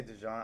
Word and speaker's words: DeJean: I don't know how you pronounce it, DeJean? You can say Dijon. I like Dijon better because Dijon Mustard.